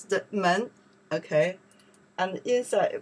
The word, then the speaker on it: 门: It's outside, we pronounce the men, okay?